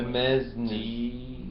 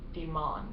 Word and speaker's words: demesnes: Spell it for me slowly. Demesnes. E-M. Okay. E-S. N-E-S, like S-N-E-S, like mother. Like S-N-E-S, ness. It's pronounced demon.